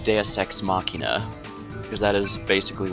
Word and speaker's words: Deus Ex: and welcome back to deus ex has come to my attention in the summer been mispronouncing this game as deuce x i can kind of